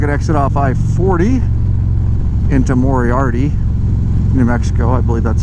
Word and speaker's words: Moriarty: Moriarty, New Mexico. Moriarty, did I say it right? Moriarty, yeah. Okay, Moriarty.